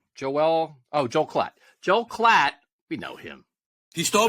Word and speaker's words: Klatt: how to say his name is it Joelle clight Joelle Joelle oh Joe Klatt Joel clatt we know him he stole my bus I